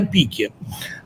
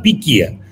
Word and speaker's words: пике: В 2013 году Россия была на пике, а в 2014 вошла в пике. Это ударение меняется за год.